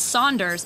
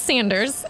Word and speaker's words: Sanders: new sanders bumpy cheesecake it's pronounced saunders isn't it and did you say bumpy cheesecake no it's pronounced sanders and yes bumpy cheesecake